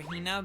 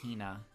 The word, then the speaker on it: Hina: I call her Hina because I love saying Hina like that. I love putting so much emphasis on the first syllable of her name.